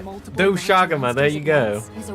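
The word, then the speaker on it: Doshaguma: The Doshagama, for Doshaga. example. There you go! The dog- She said it! Doshaga! Don't come up my neck ever again, anyone, for saying it right. Doshagama, there you go.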